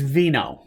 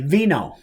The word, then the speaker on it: Vino: So the last name is Vino, just like Italian and wine. Now, if you're George or from Canada or from France, they pronounce it Vino, I think, or something along that line.